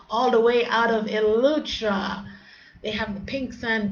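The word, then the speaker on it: Eleuthera: How you pronounce that? Elutra.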